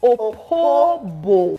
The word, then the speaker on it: Opobo: Okay, is that the correct pronunciation? Yeah. Opobo. Yes. Not a king of Opobo. No, it's not Opobo. It's Opobo.